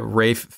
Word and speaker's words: Ralph: I tried to convince Chris Smith that Rafe Fine's name is spelled like Ralph, but it's pronounced Rafe, and he refused to believe me.